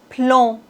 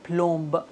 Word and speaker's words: plomb: voici la troisième règle en général ces consonnes ne se prononce pas B comme plomb on doit pas dire plomb non c'est comme blanc